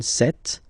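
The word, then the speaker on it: cette: masculine form s set for the feminine it will be set so only one set and then for the plural form it will be say Okay so let's see that again s or then set feminine set so you can notice that phonetically these two are pronounced the same way okay set here and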